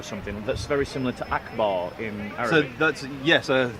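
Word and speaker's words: أكبر: Yeah, akbar, and it's pronounced akbar.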